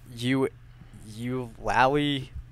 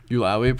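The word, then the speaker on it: Eulalie: It's pronounced Ulawi. Ulawi, Professor Ulawi.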